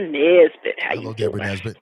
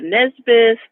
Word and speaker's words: Nesbitt: like that right why because when i say my name is nesbitt people think i'm saying nesbith lesbian what'd you say like they don't understand it when i say misfit you know what they come back with me good morning nisbet and that's why whatever